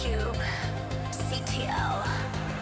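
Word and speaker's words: kubectl: FYI, it's Cube. CTL says David.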